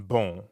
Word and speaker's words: bon: In bon. Exactly. Bon in bonjour is spelled B-O-N. But you don't pronounce that O-N the way you would in English. In fact, the N isn't really pronounced at all.